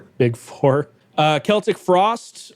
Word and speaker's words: Celtic Frost: Uh Celtic frost or is it Celtic frost? I've heard it both ways.